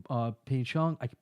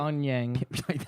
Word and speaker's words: Pyeongchang: I'm thinking about giving Vader tickets to the 2018 Winter Olympics in Pyeongchang. How you say it? Pyongyang.